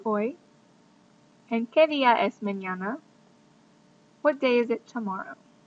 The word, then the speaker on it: mañana: And mañana has a squiggle over the end, which means that you need to make it ña. So mañana. It's not manana. Alright, it's mañana, tomorrow.